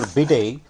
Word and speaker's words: bidet: and cold water mixer bidday also known as a bum washer bday origin is from France the tea is silent it's a fact that